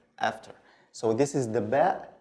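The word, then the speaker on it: ب: So this is the ba. It's very simple. It's like the B sound in English, no difference.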